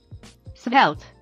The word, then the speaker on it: Svelte: created by rich harris of course and it's pronounced spelt if you prefer reading i'm going to include